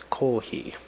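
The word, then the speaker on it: コーヒー: And actually, Japanese people hear the word as kohhi, right?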